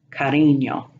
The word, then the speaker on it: cariño: Moving down to the Ñ, it's pronounced like an N and Y in Kenyan, such as año, cariño.